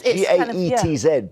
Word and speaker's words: Gaetz: I think in the case of Matt, I never pronounce Matt Gaetz. It's like Bill Gates, yeah. It's Gaetz, but it's weird. I always want to say Gaetz.